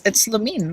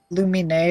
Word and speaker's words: Lumine: No, it's Lamine. That's how it's pronounced in-game by, like, Ether. Ether says... Lumine is an option.